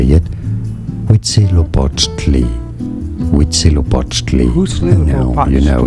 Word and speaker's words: Huitzilopochtli: I could pretend, but it's hoot, like suit, hoot, zelo, pot, to lie. And I'm sure I didn't say it right. How to say it? Huitzilopochtli.